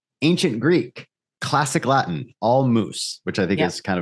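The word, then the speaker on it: mūs: so those languages that pronounce it roughly like moose rhyming with goose right so old English was moose m-u-s Old Frisian or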